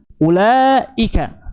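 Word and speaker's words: أولئك: kalau antum lihat di pada ulaika itu ada wau wunya ada ini ya sif musadir Nah kenapa pakai wau sif mustadir dibacanya apa ulaika pendek tapi kenapa pakai wau di sini nah ini Tentunya ini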